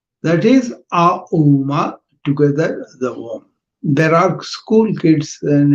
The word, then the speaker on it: Om: Now we're going to go and do the Om. Om made up of 3 syllables. One is A, U, Ma.